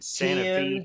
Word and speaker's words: Santa Fe: It's spelt like Santa Fe, but if you're in Santa Fe, Tennessee, and you say Santa Fe, what'll happen? Well, you get run out of there.